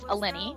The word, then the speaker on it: Eleni: So I created a little column just for her, plus her name was Eleni, which rhymes with penny, so I thought that was cute.